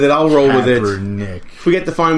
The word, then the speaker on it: Kaepernick: Yeah, Kaepernuckle. What are we going to call this guy? What's his real name? I don't even know how to say his name. Is Kaepernick.